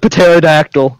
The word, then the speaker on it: pterodactyl: The T isn't silent in pterodactyl. Shut the fuck. Limoteef. Dude, what if a girl listens to this? Don't make fun of me. Pterodactyl has a silent P just like the P in swimming pool.